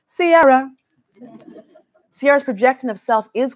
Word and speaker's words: Ciara: and gyration combination announcing duh it's pronounced Ciara Sierra's projection of self